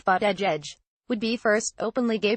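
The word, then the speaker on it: Buttigieg: of Notre Dame academics surname is pronounced fat edge edge would be first openly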